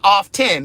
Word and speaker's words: often: That T is silent, niece. It's not often, it's often.